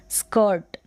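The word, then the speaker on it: skirt: यहाँ पर देखें स्कर्ट नहीं पढ़ेंगे, हम इसको स्कर्ट पढ़ेंगे क्योंकि आई आर का उच्चारण अ या अर, र का साउंड हाफ, आधा उच्चारण, स्कर्ट स्कर्ट।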